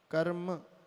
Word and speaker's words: कर्म: रेफ ऊपर है इसलिए पहले र उच्चारण होगा, कर्म, और नीचे भ्री में री की मात्रा है इसलिए भृताम।